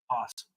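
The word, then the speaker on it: opossum: Possum. Apossum. Possum. No O. A possum. The O is silent with babies.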